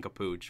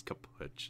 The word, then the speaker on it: kaput: him saying it but he's just saying it wrong he sang cappucci when it's kaput so you won't this